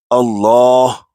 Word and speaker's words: Allah: pesh on it, then it will be pronounced with high tone as Allah. And if the last letter before the word Allah has kasra or zair on it, then we pronounce the word Allah in low tone, for example, Bismillah.